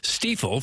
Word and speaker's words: Stifel: It's presented by Brown & Crouppen on 101 ESPN from the Stiefel Studios. Hopefully, you know by now, it is pronounced Stifel.